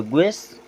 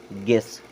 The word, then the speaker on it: guess: GUESS, क्या पढ़ेंगे? ग्वेस? नो, यू होगा साइलेंट। अब इसे पढ़ेंगे गेस।